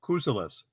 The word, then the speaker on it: Kusulas: Yes, it's Kusulas. Kusulas. Okay, Kusulas.